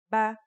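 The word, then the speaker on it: بَ: First, here's a fata. The pronunciation will now be ba.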